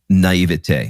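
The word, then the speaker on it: naïveté: Naivety. How do you say that word? Yeah. Is that correct? Let's go French. You want to go French? Yeah. We'll do naivete.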